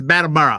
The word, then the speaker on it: Battleboro: It's Battleboro. I could be wrong. That's how it's pronounced.